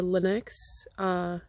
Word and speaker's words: Lennox: After I finished that, I started the Heathcliff Leno or Lennox mystery novels. I would have normally pronounced it Heathcliff Leno, but the narrator is reading it, and every time they say his name, it's Lennox. So I don't know if